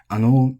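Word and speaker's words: あの: Ano is flat.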